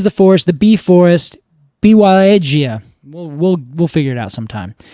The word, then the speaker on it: Białowieża: Białowieża. And edge is all capitalized, so I think that's where the emphasis should go.